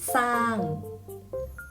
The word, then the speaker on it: สร้าง: เช่น คำ ว่า สร้อย อ่าน ว่า ว่า สร้อย สร้าง อ่าน ว่า สร้าง สรรเสริญ อ่าน ว่า สรรเสริญ